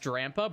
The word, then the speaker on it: Drampa: This drampa purgatory isn't working. Do you guys say drampa or do you guys say jala? I'm pretty sure it's pronounced drampa.